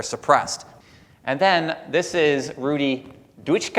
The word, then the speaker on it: Rudi Dutschke: And then this is Rudi Dutschke, I think is how you say his name, and this is Herbert Marcuse, who's talking about Rudi Dutschke's idea, all right?